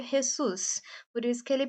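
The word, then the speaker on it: Jesús: México eles falam espanhol então no México se pronuncia jessus por isso que ele pronunciou com esse som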